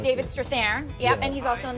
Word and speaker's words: Strathairn: Strathairn. David Strathairn.